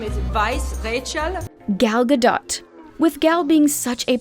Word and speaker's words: Gadot: to be heard too most people think the t at the end of her name is silent but it isn't it should be said